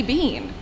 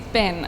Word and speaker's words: been: pronounce certain words um like bin and bean there's two e's it should be bean and she's like no hayden it's been i was like but